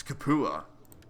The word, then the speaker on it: Capua: Because all they're talking about is like the pronunciation of Capua. It's actually Sapua. Well, it's Capua.